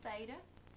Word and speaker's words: theta: We call it angle theta, and it's the Greek letter T-H-E-T-A, pronounced theta.